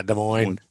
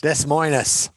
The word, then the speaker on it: Des Moines: Is that from Des Moines? Yeah, Des Moines. The S is silent. Both S's are silent. Did it on purpose. Des Moines. Des Moines.